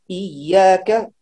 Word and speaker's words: إياك: طيب إياك هنا تشديد دون غنة، يعني لا نقول إي، لا هنا من الفم إي. إياك إياك ليس إياك من صلاة.